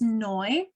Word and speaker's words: Noy: everybody my name is Noy rhymes with joy short for a much